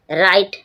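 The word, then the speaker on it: write: राइट। राइट means लिखना। डब्ल्यू आर आई टी। डब्ल्यू के बाद आर आया। W silent ring ring means निचोड़ना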